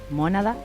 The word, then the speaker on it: Mónada: Bueno, el disco está circulando por YouTube, Mónada, con acento en la O.